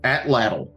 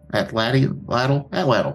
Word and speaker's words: atlatl: um uh what's this an atlatl Atlanta I said it right the first time yeah so they produce